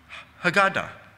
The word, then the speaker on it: Haggadah: Haggadah. I think I'm pronouncing it right. The Haggadah. And you can hear Haggah in Haggadah.